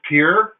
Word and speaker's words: Pierre: Dakota which is it's spelled pierre is from pronounced Pierre that's yourself Dakota tip for the day and